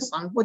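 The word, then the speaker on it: Tsangpo: यहाँ पे सांगपो जब आप पढ़ेंगे तो टी जो होता है ये साइलेंट हो जाते हैं, है ना।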